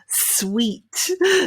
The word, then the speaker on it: suite: got the pronunciation whoops sweet so think of it like a lolly a sweet something that you eat instead sw eat sweet